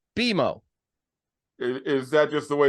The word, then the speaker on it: BMO: So it's not BMO, it's BMO.